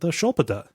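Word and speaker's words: sköldpadda: And it is the Shulpada is how that's pronounced, although it looks like it should be written Skulpata.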